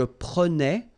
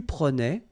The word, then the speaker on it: prenais: So same thing here, final S not pronounced. Je prenais, tu prenais, il prenait, final T not pronounced, so the same form, okay?